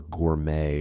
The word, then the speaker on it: gourmet: Pronunciation varies significantly, influenced by regional accents and borrowed words, where the T is sometimes silent, as in ballet or gourmet from French.